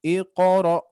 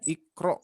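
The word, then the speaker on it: اقرأ: Qafnya diringankan dan juga dipantulkan. Iqra. Tapi yang kita biasa baca biasanya ikro ya. Ikro bismi rabbika khalaq ya. Jadi tidak ikro tapi iqo ya.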